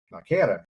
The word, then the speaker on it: Machera: told but uh now I've been pronouncing your last name not quite right Mara is the way you uh yeah yeah